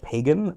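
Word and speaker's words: Pagán: Pagan, spelled pagan, but there's an accent over the second A. It's Pagan.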